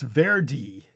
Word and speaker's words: Verde: And they're saying in the local Creolu dialect it's pronounced veri. So maybe she heard me doing it what she would consider like an Anglo speaker doing it kind of incorrectly but kind of loyal to what she was saying. Or maybe I heard her saying Cape Verde and I just did verde because that's how I see the E is barely pronounced is everything I'm saying.